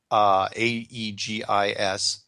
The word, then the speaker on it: Aegis: one of the more advanced, how do you pronounce that? Aegis ships? Yeah, Aegis. I think Aegis. it's Aegis, yeah.